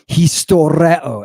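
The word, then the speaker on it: ἱστορέω: Spell it out for me. Iota, sigma, tau, omicron, rho, epsilon, omega. Historeo.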